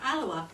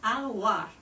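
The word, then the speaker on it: Alloa: was raw and tough they even pronounced the Scottish town of alawa as alir and I can tell you the people of alawa do not appreciate it in many City areas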